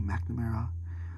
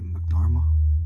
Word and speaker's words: McNamara: Lampard, Pirlo, Villa, Jack Harrison, Tommy McNamara, which I used to call him Tommy McNarma because I didn't know how to pronounce it until I like listened to the commentators, Martin Tyler and Alan Smith.